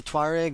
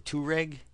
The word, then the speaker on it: Tuareg: can buy called the Touareg. I think the Touareg may be the English pronunciation of this place, and the Tuareg is the French pronunciation.